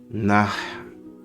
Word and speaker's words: Nahida: Here's the pronunciation. Sumeru. Sumeru. The location's Sumeru, and the girl's name is Nahida.